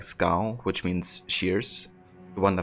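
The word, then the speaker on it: Skål: I guess Scow is what they use to greet each other. And that's also something that Ivor says himself sometimes. It's pronounced as skull.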